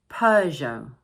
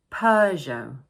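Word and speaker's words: Peugeot: one is stressed, and don't forget the silent "t" at the end of the word. So we pronounce it: Peu-geot Peu-geot Okay so now, we are going to look at a few British makes.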